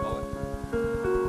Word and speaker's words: Moët: Moët is a Dutch name, and with proper names, the rules do not apply, so it is properly pronounced Moët.